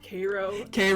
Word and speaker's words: Cairo: hard for me, because there's a city near me in Georgia called Cairo. And it's spelled Cairo, yeah. And it's Cairo, and it's spelled Cairo, but it's you would be like looked at so weird if you went there and said Cairo.